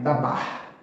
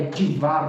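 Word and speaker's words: דְּבַר: Aí você vai falar, dabar Adonai. Tá errado. Escrever se escreve assim, mas para se pronunciar a gramática muda. Então é divar Adonai.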